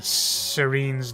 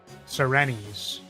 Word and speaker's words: Serenes: There's an official pronunciation, but I'm sure it's pronounced Serenes. Not Serenes.